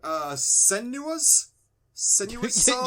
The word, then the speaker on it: Senua's Saga: We got a game called, I'm going to say it wrong, Senua's Saga? You did it, yes!